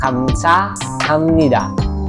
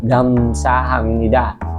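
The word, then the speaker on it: 감사합니다: sa Korean Alphabet Okay so next is um Kamsa hamnida Okay Kamsa hamnida Okay so hindi siya Kamsa hamnida hindi rin siya gamsa hamnida Okay so ang tamang pronunciation is kam ka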